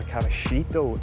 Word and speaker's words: Caballito: So I'm in the Buenos Aires neighborhood of Caballito, or Caballito if I can pronounce it like a local.